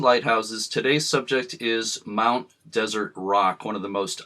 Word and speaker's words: Desert: way the name is traditionally pronounced desert like the last course of a meal similar to the French pronunciation does air although is